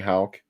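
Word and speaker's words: Houck: Is that how you pronounce his last name? Yeah. Joy Hauk.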